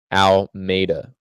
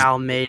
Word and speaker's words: Almeida: Almeida. Because Almeida. It's Portuguese. It's not Spanish.